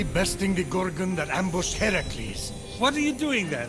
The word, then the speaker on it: Heracles: Phoenix after boldly besting the Gorgon that ambushed Heracles what are you doing there that thing please